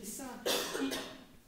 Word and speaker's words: dessin: Especially dessin. Okay, to be said. It's the same sound as said and rest.